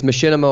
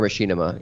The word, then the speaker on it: Machinima: It's Machinima or Machinima, either works.